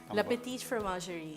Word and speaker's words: La Petite Fromagerie: How do you pronounce it? La Petite Fromagerie.